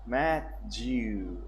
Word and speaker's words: Matthew: Matthew, we sound intuition, placing heavy emphasis on the last syllable. Matthew, alright?